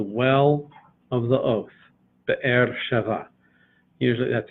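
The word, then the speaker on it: Be'er Sheva: air Sheva usually that's if you slow it down it sounds like that bet air two two consonants are two syllables but air shiva but usually it's all run together bear Sheva Ramon on the first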